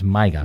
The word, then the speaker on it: MYGA: Not that kind of MAGA. It's MYGA. No, MYGA. Yeah, say it properly.